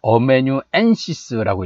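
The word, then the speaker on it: amanuensis: 자, 이 소스세네스는 어메뉴엔시스라고 읽어요. 어메뉴엔시스.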